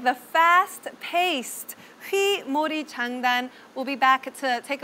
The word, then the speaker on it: Hwimori Jangdan: that we're about to learn today, the rhythm Hwimori Jangdan. Did I pronounce that okay?